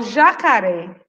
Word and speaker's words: jacaré: Foi o já? Foi o cá? Ou foi o ré? Jacaré! Foi quem? O ré.